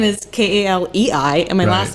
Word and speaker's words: Kaleigh: But my first name is Kaleei, and my last name is IE.